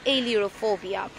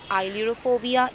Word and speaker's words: ailurophobia: বলতে চাই, তাহলে কিন্তু আমি বলতে পারি এইলিওরোফোবিয়া। আমরা অনেক জায়গায় আইলিওরোফোবিয়া এটা দেখব। এই দুটো প্রোনাউন্সিয়েশনই কারেক্ট, একটা ব্রিটিশ প্রোনাউন্সিয়েশন আর একটা আমেরিকান প্রোনাউন্সিয়েশন।